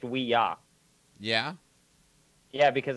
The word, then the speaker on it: Ouija: board so yeah my fun fact it's actually pronounced we yah yeah yeah because it's supposed to be we